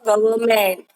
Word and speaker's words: government: Yes, it is the government. Check the spelling of government. Don't forget this N. Government. N is silent.